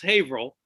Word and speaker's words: Haverhill: in a place called haverhill spelled haverhill but pronounced haverhill we're in new england remember um just north